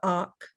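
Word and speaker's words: akh: spiritual body which is the och it's two syllables a and a kh syllable and the ka which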